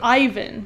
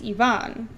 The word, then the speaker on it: Ivan: In English, we say Ivan, but in Spanish, it's Ivan.